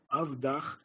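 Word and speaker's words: עבדך: In Aramaic, Avdach, spelled the same, but pronounced differently, Avdach, your servant.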